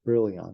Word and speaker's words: Brillouin: So there's a Brillouin scattering, Brillouin, pronounce it wrong, Brillouin, like Brillo pad eon, Brillouin.